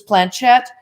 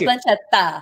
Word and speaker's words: planchette: like this with this planchette, right? Is that how you say it? Planchette. Planchetta. I was taught by an English woman, and that's. Well, you guys, it is a French word, so I'm going to give it to him.